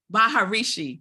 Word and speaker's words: Maharishi: I always say his name r wrong Mahar Maharishi Maharishi Maharishi so he's the Hindu religious leader